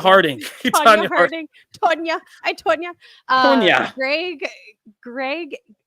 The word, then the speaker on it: Tonya: Deadline reported that the director of Cruella and Tonya, I always say Tanya it wrong. Harding. Tonya Harding.